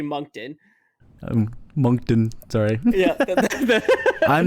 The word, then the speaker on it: Moncton: all you butchered the because it's actually monkton i'm moncton sorry i'm